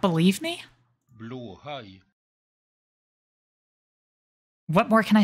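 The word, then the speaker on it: Blåhaj: What am I naming the blowhigh? Good question. Right now, everybody's for some reason also calling him Germa. So that might stick. Blowhigh.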